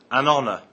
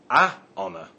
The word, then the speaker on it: honor: word honor we say an honor not a honor the H in honor is silent other examples are an